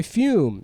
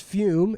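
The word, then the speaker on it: Füm: Today's episode is brought to you by Fume. That's Ooh. It's pronounced Fume, and that's Fume. F-U with an umlaut M.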